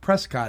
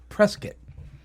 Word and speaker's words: Prescott: the hope vest and it's actually not pronounced Prescott it's actually pronounced press kit prescott arizona i was